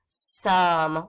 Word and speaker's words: some: The O is going to say just like in other. S, and the E is he doesn't make the O say his name, but he's got to be hanging out at the end of that word.